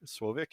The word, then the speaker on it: Slowik: uh my name is sloick slovic if you are actually pronouncing it correctly uh i have over